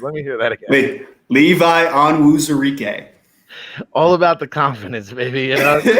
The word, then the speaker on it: Levi Onwuzurike: Levi Onwuzurike.